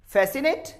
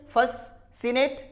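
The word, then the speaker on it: fascinate: फैसिनेट। What is this? फैसिनेट। कभी ये तो नहीं कहते फससिनेट, यानी यहां पर भी सी साइलेंट होता है।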